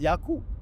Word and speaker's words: Yaqub: So was that the Ain? Yeah, it's Yaqub.